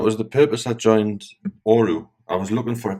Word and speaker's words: ORU: I joined this platform a few days ago, and I wasn't sure how to pronounce it, so it's ORU, ORU.